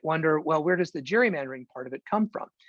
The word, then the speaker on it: gerrymandering: what they're talking about we'll say gary mandering instead of gerrymandering and from a technical standpoint they're right but not that many people say it so uh i don't either i just go with sop g jerry but um jerry comes